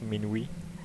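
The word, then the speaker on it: minuit: do you know that mean we is French for midnight and that is pronounced mean we anyways round number four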